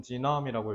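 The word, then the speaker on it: gene: 자 그래서 최초의 휴먼지 우리 게이라고 하죠 영어로 진이라고 읽어요 그래서 최초의 인간 개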